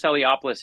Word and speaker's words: Eliopoulos: grandkids and nieces nephews your illustrator is it pronounced iliopoulos yeah Chris eliopoulos he's our secret weapon he really is I